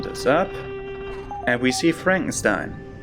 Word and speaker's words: Frankenstein: And we see Frankenstein. I will always pronounce that Frankenstein because Frankenstein is a German word and Stein with EI is pronounced that way in Germany.